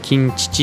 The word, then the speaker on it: 金月: 月って書いてね、金獅子って読むんですけ